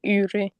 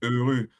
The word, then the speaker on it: heureux: Can you please pronounce heureux? Heureux. Je suis heureux. E. No, not heureux. E. E. Je suis. Oh. Heureux. E. Heureux. Not U. Not U. E. E. E.